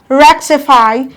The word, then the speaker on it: rectify: receive the loudest stress we have rectify counted from the back one two three rectify the wreck receive the loudest stress we have quantity granted